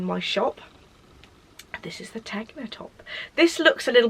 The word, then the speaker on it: Tegna: So everybody on earth has knitted the Tegna, or Tegna, I think it's pronounced Tegna anyway, by Caitlin Hunter, and